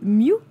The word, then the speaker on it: MW: références et donc là il s'agit de Mew ça s'écrit MW voilà mais ça se prononce mieux je l'ai découvert récemment